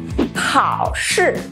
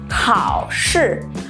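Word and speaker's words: 考试: Но для начала давайте выучим, как же пишется и произносится слово «экзамен». Хао-ши. Хао-ши.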